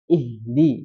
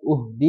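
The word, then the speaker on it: اهدِ: Nah, jadi i ya, ihdi, jangan uhdi, jangan ahdina.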